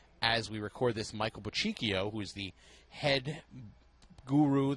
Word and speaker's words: Bochicchio: Bochicchio. I never knew that. Yeah, you're from New York. You should know how to pronounce Italian names.